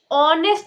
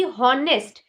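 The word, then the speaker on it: honest: क्योंकि ऑनेस्ट को जिस तरीके से प्रोनाउंस किया गया है या इतने टाइम तक जितने भी डायलक्ट्स को यूज़ करके ऑनेस्ट को प्रोनाउंस किया गया है उसका प्रोनाउंसिएशन ऑनेस्ट आया है ना कि हॉनेस्ट।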